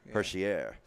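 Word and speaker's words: Hischier: on them and going for Niko Hershiser sure Hershey air as Bob McKenzie pronounced I studied it like 20 different times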